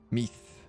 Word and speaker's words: Meath: Meath is like teeth, but with a hard TH. Meath.